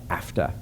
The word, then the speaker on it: AFTA: Agreement which of course goes by AFA right rolls off the tongue nicely rhymes with NAFTA um so they have